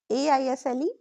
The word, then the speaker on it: aisle: Now let's move to silent S. These are very common daily words. Examples: island, aisle, aisle, debris. Pronunciation क्या होगा? ISLAND, island. AISLE, aisle. DEBRIS, debris. Very common speaking mistake. Many students say Iceland या debris, but that is wrong. That is silent.